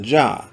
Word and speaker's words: Jah: Now, where we see Lord Jehovah, the Tetragrammaton is preceded by two Hebrew letters which are pronounced Jah.